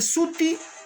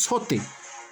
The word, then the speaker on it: suti: Se escribe Suti y se pronuncia Suti. No hay ninguna modificación, no es sote.